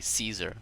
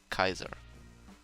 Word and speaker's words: Caesar: Well, most people say Caesar, but it was supposed to be pronounced Kaiser.